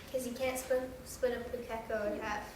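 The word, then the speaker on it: pūkeko: Pukeko.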